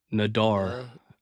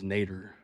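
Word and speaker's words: Nader: N Nadar Nadar Nadar, but the way he pronounced his name was Nater. N a D er.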